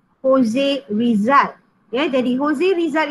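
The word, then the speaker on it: José: Kita sebut Jose, kita tak sebut Jose. Ya, walaupun namanya J, kita pronounce sebagai H. Jose Rizal.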